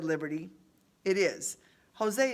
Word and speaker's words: Jose: Jose is just a nickname that rhymes with way.